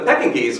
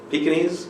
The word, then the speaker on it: Pekingese: Pekingese? How do you pronounce it here? Pekingese? All right, I'm hitting the G kind of hard. That might be an American thing.